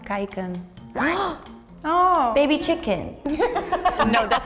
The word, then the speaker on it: kijken: It's pronounced kijken.